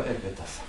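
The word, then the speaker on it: aequitas: просто калька с латинского эквитас. Вот. Ну и так далее. В других языках тоже самое. Дальше пошли. Как будет справедливость? Эквитас. Эквитас. Это две буквы. А, Э считается. Принято читать как Э. В латинском.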